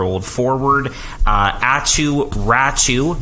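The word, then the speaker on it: Räty: bovillier 25 year old forward uh at you ratchu not ratty ratchu is the correct pronunciation there and uh a conditional 2023 first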